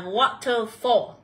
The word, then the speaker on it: waterfall: sẽ được đọc là Waterfall. Thì gốc của nó sẽ là từ Water. Và khi là Water thì chúng ta sẽ cần nhận vào âm số 1 nhá.